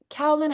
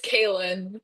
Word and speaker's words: Kaylin: Sorry, before the moderator gets going, Kellen, how do you pronounce your name? Am I saying it right? It's Kaylin. Kaylin.